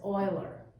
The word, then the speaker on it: Euler: Euler, but I've seen several high school teachers pronounce it as Euler. So I think the appropriate, who knows what his mama called him? They're all dead, so we're calling him Euler.